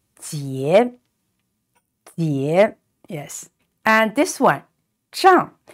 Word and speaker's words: 结: It's pronounced ye and with a rising tone. So it's ye. And the letter J is pronounced ji. So together it is jie.